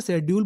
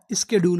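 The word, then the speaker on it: schedule: चाहे तो आप इसे शेड्यूल बोल दीजिए या स्केड्यूल बोल दीजिए, कोई दिक्कत नहीं।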